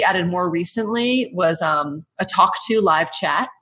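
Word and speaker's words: Tawk.to: One thing we added more recently was a Talk To live chat. It's spelled TAWK, something like talk, which the Americans should appreciate especially.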